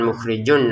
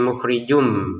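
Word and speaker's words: مخرجٌ ما: Wallahu 2 harokat, panjangnya lam, mukhrijun tulisannya mukhrijun bertemu mim, masukin tanwinnya ke mim sehingga bacanya bukan mukhrijun lagi tapi mukhrijum ya, mukhrijum. Kemudian disertai dengungannya mukhrijum ma.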